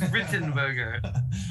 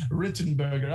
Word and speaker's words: Wittenberger: with an r sound it says it's spelled with a w but it is written burger written burger oh yes yes of